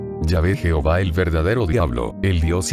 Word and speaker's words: Yahvé: se escribe ya de la pronunciación ya ve es sin duda la pronunciación más correcta del hebreo original para indicar adiós como